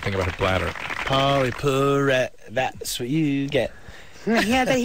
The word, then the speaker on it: Perrette: Pauley Perrette, that's what you get. Yeah, he writes me songs with my name in them. Everything that rhymes with Perrette, which isn't easy. You have like Barrette and Get.